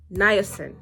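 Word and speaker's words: niacin: preventing or treating this glaucoma vitamin B3 is niin niin is how you say it it can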